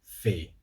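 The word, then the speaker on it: fae: 23 is frey or fey. Fey is probably the more common one, if you ask me. So F-R-A-E, frey, or F-A-E, fey.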